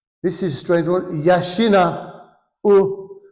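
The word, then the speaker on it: 養う: Yashina u. The u is pronounced u, slightly separate.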